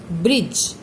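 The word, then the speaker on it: bridge: ब्रिज, D silent है।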